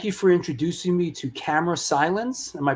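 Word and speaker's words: Camera Silens: Thank you for introducing me to Camera Silence. Am I pronouncing that right? Camera Salins.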